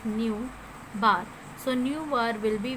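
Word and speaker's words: ν̄: You will pronounce it as nu bar.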